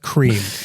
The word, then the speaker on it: creme: spell it creme though I realize it's supposedly French but it's pronounced cream just because it's spell